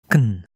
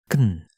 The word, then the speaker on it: can: how short that is can can you hardly hear any vowel sound at all now what if you're